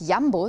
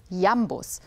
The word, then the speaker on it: Jambus: hinschaut der merkt dass das wort jambor ist genau das gegenteil von seiner betonung ist ja muss laut der betonung wäre das ja der tross und der tross der ja muss wenn er sie nicht mehr unterscheiden könnt also merken der jan bos ist entgegengesetzt seiner eigenen betonung schauen wir uns jetzt